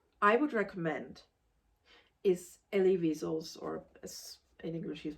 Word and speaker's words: Wiesel: The book that I would recommend is Elie Wiesel's, or as in English he's pronounced Wiesel, Night.